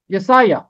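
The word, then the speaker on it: یسعیاہ: اگلا نام ہے یسایہ، یہاں بھی یہ کہ عین کے نیچے زیر آئے گا، یسایہ، یسایہ، جیسے ہے نا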